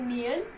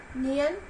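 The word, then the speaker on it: 니은: कियोक को हम क या ग की तरह प्रोनाउंस करेंगे। नियन को हम न की तरह प्रोनाउंस करेंगे और दिग्गत को द की तरह।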